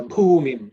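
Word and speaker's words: भूमिम्: So Bhumim. The Bhu is 4th letter in the Pa Varga, so it has to be aspirated.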